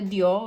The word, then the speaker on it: dio: And dio, same thing, it's a one-syllable word because the I is